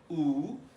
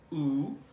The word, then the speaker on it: u: এর উচ্চারণ একটু ভিন্ন, আমরা যেভাবে ইংলিশ ভাষায় ইউ উচ্চারণ করি সেভাবে হবে না। সহজ উচ্চারণ হলো ডবল ই। ডবল ই কে একটু মুখ সামনের দিকে বের করে দিয়ে টুটটি গুল করে আমরা উচ্চারণ করব, তাহলে হয়ে যাবে ডাচ ল্যাঙ্গুয়েজের আপনি অর্থে যে শব্দ ব্যবহার করা হয়। উ উ আপনারা নিশ্চয়ই দেখতে